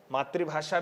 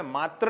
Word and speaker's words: मातृ: कई बार क्या होता है, इसके उच्चारण की बात करते तो मातृभाषा ऐसा बोल लेते, ठीक नहीं है। ऋ से ऋषि है, इसलिए हमें मात्र नहीं बोलना है। क्या बोलना चाहिए? मातृ।